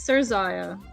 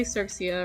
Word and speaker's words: Zerxia: It's It's Zerxia, but people say Serxia or I don't know what else.